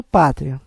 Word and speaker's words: pátria: isso não podemos acentuar a palavra correta é Patria ou Pátria O correto é pátria então a caba mais forte é a p como ela termina com